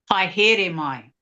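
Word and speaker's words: haere mai: Hi is like hi. Hi. Hi, here mai. Here mai. And it's spelled, is it spelled Haere? No. No, but that might be that's how you got it phonetically, right? Yeah. But it's here mai.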